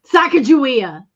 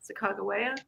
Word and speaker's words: Sacagawea: Sacagawea. Exactly. Ooh, I feel embarrassed that I don't know. Susan B. Anthony dollar? No, it's Sacagawea. Sacagawea?